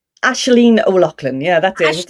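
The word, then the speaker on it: Aisling O'Loughlin: Have I pronounced your name right? Ashleen O'Loughlin.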